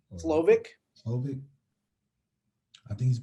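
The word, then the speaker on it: Slovis: To see Jack go against, Kevin was Slavic. Is how you say his last name? Slovic.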